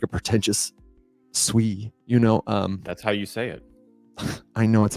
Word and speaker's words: Sui: You got me saying it like a pretentious Sui, you know.